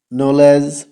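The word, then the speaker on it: knowledge: ওয়ার্ডের শুরুতে কে এন যদি থাকে তাহলে কে উচ্চারণ করার প্রয়োজন নেই যেমন নইফ নট নলেজ knock follow for part two ধন্যবাদ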